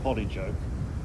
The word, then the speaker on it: Polly Joke: Well, I've no idea why this particular bay or narrow cove is called Port Joke, or as the locals say, Polly Joke, but it did remind